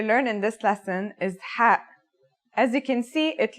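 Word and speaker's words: ح: It sounds like the sound you make when trying to cool your mouth and throat after eating something very spicy. The closest English counterpart to the sound is H. The only difference is that it comes from a point deeper down in your throat, just like this.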